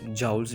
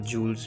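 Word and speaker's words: joule: इसकी जो प्रोनाउंसिएशन है, इसको जाउल्स भी कहते हैं और जूल्स भी कह सकते हैं, ठीक है।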